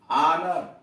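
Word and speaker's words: honour: मतलब यह कि क्या पहले भी शब्द का पहला अक्षर भी साइलेंट होता है? तो यहां देख लीजिए, एच ओ एन ओ यू आर, ऑनर, इज्जत, एच ओ यू आर, आवर, घंटा, थॉमस,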